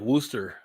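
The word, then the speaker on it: Worcester: one of those things it's kind of like woster up up in the Northeast and Vanessa knows this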